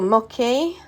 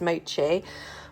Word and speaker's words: mochi: say it if it is it Mochi or mcky in my head I read it as mcky but I'm pretty sure it's Mochi but um they're like a